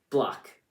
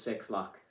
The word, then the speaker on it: 6LACK: Black, which is spelled 6LACK, and it doesn't make sense that it's pronounced black. It should be I always say it as Six Lack.